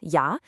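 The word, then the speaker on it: ja: The letter J is always going to sound like the yes in yes. So the German word for yes, yah, is pronounced ya.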